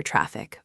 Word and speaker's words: traffic: Put the strong energy, stress, on the first syllable. Traffic, subway.